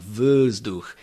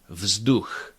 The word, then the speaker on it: vzduch: There mustn't be any residual schwa, quasi-schwa sound like vzduch. It's vzduch, vzduch.